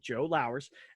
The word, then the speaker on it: Lowers: World Series of Comedy, Mr. Joe Lowers, like Flowers without the F. So when you think about it, if you want to know, that's how you say it, Joe Lowers.